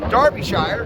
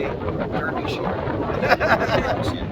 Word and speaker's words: Derbyshire: Anyway, folks, from Derbyshire, because I think that's how you say it. Of course, in American we'd say Derbyshire.